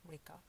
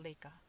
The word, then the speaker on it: Rika: sounds like ah right like rika yeah not lika yeah uh so i would say rika on the on the other hand i would also i would look at how your name is spelled and for me because it's an r there is no l it's not like oh no no no that's the japanese way of saying it cool but in